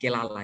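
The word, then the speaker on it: קללה: Ya, kalau definisi kutuk kalau kita lihat dalam bahasa Ibraninya kurang lebih, ya, pengucapannya kelala, ya, kelala, ya.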